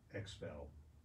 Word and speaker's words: XPEL: mention my friends at expel um expel san antonio e it's spelled x it starts with an x x e l they did my truck